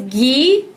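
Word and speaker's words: ghee: thank you so it's GE is that right long e sound okay good I really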